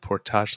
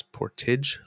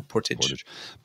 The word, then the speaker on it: Portage: because it's um oh what guys it's not Portage let's go it's Portage olisker good to know thank you kiddana that's how it's pronounced I did not know Portage in Maine not Portage yeah it's pretty spelled the same as just